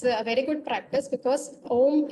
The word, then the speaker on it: Om: Okay, Omkar chanting is a very good practice because Om is basically A, U, and Ma.